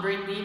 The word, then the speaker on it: Brittany: Britney Murphy en fait son nom est prononcé Brittany Britney ça dépend des g je pense que c'est vraiment Britney parce que j'ai entendu son père dans une entrevie dire Britney mais bon Britney Murphy